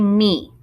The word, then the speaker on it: mi: Make sure you say me. It's not pronounced me like me llamo.